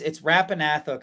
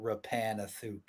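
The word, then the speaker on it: Rappan Athuk: So it's Rapanathuk, I think, is the correct thing, but I always called it Rapanathuk. That makes it sound more like fantasy.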